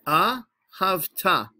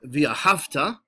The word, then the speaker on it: V'Ahavta: ah ha ha notice the way I am pronouncing the word it is the AH hafta it is not via hafta although a lot of people pronounce it that